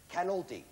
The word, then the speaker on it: Canolti: and Mrs., I want to pronounce this correctly, Canolti, accent on the can, right?